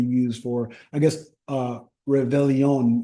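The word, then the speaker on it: Réveillon: do you say um have Val on because you don't say the r like hey Ice aelon means New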